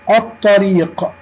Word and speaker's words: الطريق: كتبنا اللام ولم ننطقها، والحرف الذي بعد اللام حرف مشدد، الطاء، الطريق.